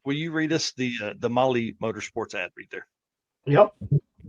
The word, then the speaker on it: Mahle: And for our podcast listeners, Molly is spelled Mahle. I know that's right.